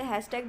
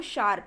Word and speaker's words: C#: Next one जो है वो मैं तो इसे हैशटैग बोलती हूँ बट इसकी प्रोनाउंसिएशन जो है वो शार्प है, C#.net।